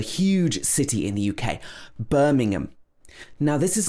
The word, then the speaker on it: Birmingham: like the meat but in the uk birmingham does not have ham in it it has um in it birmingham so the in the middle joins together with the schwa at